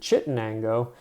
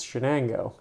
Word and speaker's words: Shenango: know greater Shenango area not to be confused with chiango this is Shenango um a great name